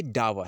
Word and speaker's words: dower: वो डुओ था, ये डावा है, DOWER, डावा। ये डावा है, डुआ है। ये स्पेलिंग प्रोनाउंसिएशन पर जो है डिपेंड करेगा हम किस तरीके से इसका उच्चारण करते हैं।